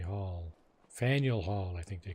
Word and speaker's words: Faneuil: Fenoy Hall. Faneuil Hall, I think they call it, eh? Faneuil? It's a French word. It's pronounced Feneuil.